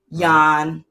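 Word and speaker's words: Jan: and we know if you are dutch it's pronounced han so yawn you're right yawn you're right chris was born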